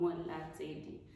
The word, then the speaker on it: Molatseli: The end is spelled with an L, so just correction, I'm Sutu. It sounds like a D, so Molatseli.